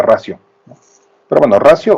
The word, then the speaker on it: ratio: La pronunciación es ratio, ¿no? Porque dicen que en latín, cuando una vocal suave va junto a una consonante, como la T, se convierte en una S, entonces se pronuncia ratio.